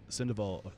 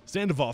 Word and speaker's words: Sandoval: And what ways did Chef Richard Sandoval, I'm saying his name wrong, yeah. I know I am. Sandoval, thank you so much.